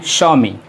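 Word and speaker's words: Xiaomi: है है और इसे हम लोग पढ़ते हैं स्वामी पैसे पड़ जाते हैं स्वामी ओं अच्छा ठीक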